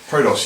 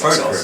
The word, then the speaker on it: Prodos: Okay, so I'm here with Mark from Prodos Games. Hello! Have I pronounced that right? Prodos, yes. Prodos, there we go.